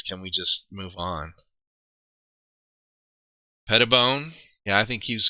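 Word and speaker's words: Petitbon: Pettibone. Yeah, I think he was kind of a given that most of us knew from modern NFL times. Look at that. Not petite bone.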